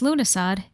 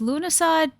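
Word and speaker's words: Lughnasadh: Now, I tend to call it Llamus because Luna, I know how to pronounce it now, but if you've seen it written out, the pronunciation is not logical when you compare it to how it's spelled.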